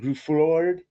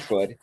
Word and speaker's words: Gruffudd: I meant the Ian Groof. Ian Groof. How do you say his name? Ian Gruffudd. You Ian got it. Gruffudd.